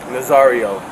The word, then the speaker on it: Nazario: Nazario.